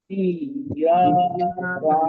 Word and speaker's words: إياك: إياك نعبد وإياك وإياك نستعين نستعين তো জজম এবং তাসদীদের আওয়াজটা আমরা ক্লিয়ার রাখবো সব সময়। যেমন এখানে এইটা যেন ইয়াকা না'বুদু ইয়া হয়ে না যায়, ওইখানে আওয়াজটা একটা আওয়াজে ভাঁজ থাকবে। যেমন ইয়া, এই যে একটা ভাঁজ, এই ভাঁজটাকে ক্লিয়ার রাখতে হবে জজম তাসদীদের ক্ষেত্রে। ইয়াকা না'বুদু ওয়া ইয়াকা নাস্তাঈন।